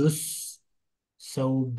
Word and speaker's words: الثوب: لام is silent in ثوب. Join دال with بأسا. أريد الثوب الأبيض.